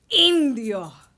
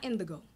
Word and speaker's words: Indio: Indio, not indigo. Indio.